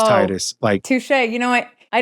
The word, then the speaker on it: Tidus: So I could see that, but no, it's Titus, right? Especially when you consider that he played Blitzball, he was in the water, tide. It's Titus.